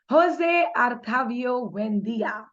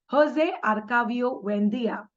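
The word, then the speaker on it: José Arcadio Buendía: 100 Years of Solitude Jose artavio wendia okay that is the name that's how you pronounce it in Spanish Jose arcavio wendia and his wife leave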